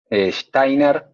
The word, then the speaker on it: Steiner: chiste ay pero bueno los alemanes son complicados steiner y se pronuncian como hay y por eso einstein es einstein y me está distrayendo